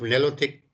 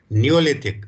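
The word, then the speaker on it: Neolithic: The main features, ये topic ऊपर लिख लो, the main features of नेलोथिक, sorry नेलोथिक नहीं, मैं वो मतलब रॉन्गली इसको प्रोनाउंस कर रहा हूँ, नियोलिथिक, sorry, the main features of नियोलिथिक culture in India.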